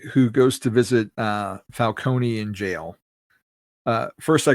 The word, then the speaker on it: Falcone: you a Falonee or Falcone guy? I think it's I like Falcone. Um that to me sounds more like oldw world Italian to like pronounce the vowel at the end.